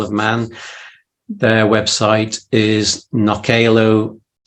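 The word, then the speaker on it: Knockaloe: Man, their website is knockalo.im. It's a funny word. It's a mixture of Manx and the Norse Viking language Knockalo. So it's spelled Knockale. Knockalo.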